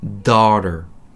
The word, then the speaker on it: daughter: 일단 발음부터 한번 해볼까요? 딸은요, daughter.